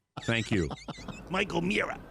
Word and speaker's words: O'Meara: He says O'Meara, and that's part of the problem there. Well, don't get me started on that. You know, it's Mayor, Chair, Bear. It's not Mere. Thank you. Mike O'Meara.